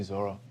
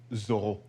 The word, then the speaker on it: Zorro: Thank you, Zorro. Oh, exactly, but it's actually pronounced Zorro.